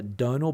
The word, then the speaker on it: Donal: the other day wrong apparently it was uh Donal but the spelling caught me out but hopefully I've pronounced